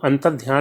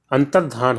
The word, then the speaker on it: अंतर्धान: अंतर्ध्यान, तो दोस्तों अंतर्ध्यान नहीं होता है, अंतर्धान होता है, अंतर्धान होता है।